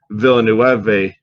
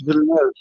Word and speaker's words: Villeneuve: And in more particular, you know, talking about the new Dennis Villenueve, I don't know how to say it. Villeneuve. Okay. I think it's Villeneuve, actually.